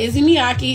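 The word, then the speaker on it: Issey Miyake: It's called Izzy Miyake. It's spelled I-S-S-E-Y.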